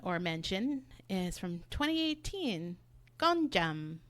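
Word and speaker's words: Gonjiam: my next recommendation or mention is from 2018 gjam right is that how you pronounce it yeah the haunted Asylum gjam so I want to talk a little bit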